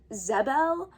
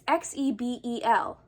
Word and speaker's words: Xebel: But Mera specifically, I think it's pronounced Zebel, and she's a Zebelian princess, but it's spelled really weird. It's spelled with an X. It's Xebel.